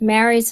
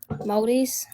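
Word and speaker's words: Māori: It's not pronounced Marys, it's pronounced Moldies.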